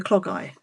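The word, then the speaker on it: Clogau: It's It's spelled like clogowl, but I'm told by a subscriber it's clog eye. So hopefully that's right because that's what I've been saying.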